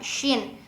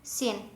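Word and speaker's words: ش: Misalkan kita baca shin kan harusnya keluar udara ya, shin gitu. Terus kita harus berdesis gitu ya, shin. Nah, sedangkan kita misalkan melafadzkannya itu sin, beda ya, beda.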